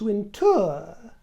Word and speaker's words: Wintour: First of all, I'll deal with your claim that Anna Winter is pronounced winter. Roll the tape. I'm Anna Winter and this is my masterass.